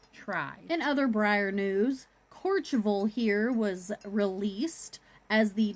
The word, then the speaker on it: Courchevel: And that's Courchevel is how they pronounce it. It's probably something completely different, but that's how Google Translate says it.